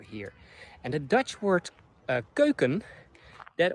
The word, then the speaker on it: keuken: And the Dutch word keuken, that, or the word keuken, I'm pronouncing it on the Dutch way also, that means kitchen.